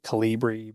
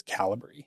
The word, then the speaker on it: Kalibri: Some people say Calibri, but it is Calibri.